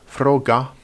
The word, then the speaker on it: froga: When a G is doubled, it can be either written CG or GG, they're identical, and it is either pronounced as a long ga, as in froga, or as the English J sound, as in budjan.